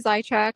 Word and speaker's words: Zajicek: Well, my name is Zyek. So, a lot of people have a hard time pronouncing the last name when they see how it's spelled.